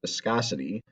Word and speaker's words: viscosity: So the first one is viscosity. That's how you pronounce this word, which by definition means a liquid's resistance to flow or resistance to flowing.